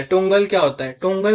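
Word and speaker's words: toggle: Sorry guys मैं बार-बार इसको टोंगल कह रहा हूं। ये एक्चुअली टगल है। पता नहीं मैं बार-बार क्यों टगल टोंगल कर रहा हूं। इसका प्रोनाउंसिएशन है टगल।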